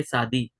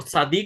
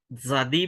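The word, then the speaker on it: צדי: और शादी को जो है वो शादी भी बोलते हैं, जादी भी बोलते हैं कोई, लेकिन उसका जो क्या बोलते हैं ओरिजिनल प्रोनाउंसिएशन है वो टी और एस वाला ही है, जेड वाला नहीं है।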